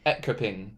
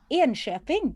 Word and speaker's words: Enköping: He spent the summer there as a student working in, I'm going to say this wrong, Ekoping. Ekoping? Is that how you say it? Enköping.